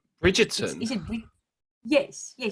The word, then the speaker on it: Bridgerton: Bridgerton. Is it Yes, you say it so right. You pronounce it the English way.